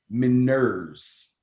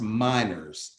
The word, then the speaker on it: Meinerz: That would be Quinn Miners, or it could be pronounced Miners, Meinerz, but he will push for the starting job over Cushenberry.